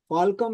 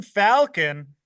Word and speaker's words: Falcon: Like Kevin Falcom, his name is. I think I'm correctly pronouncing him. No, that is the man, the myth, the legend. Kevin Falcon, Yeah.